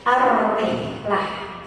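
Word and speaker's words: الرحلة: Dia maka bacanya harus ada tanwin. Rihlatun. Rihlatun itu menunjukkan bahwa makna umum rihlatun. Tapi ketika maknanya menyempit menjadi khusus, maka dia ditambahin al-ma'rifat, alif lam ya. Alif lam syamsiah. Jadi ar-rihlah.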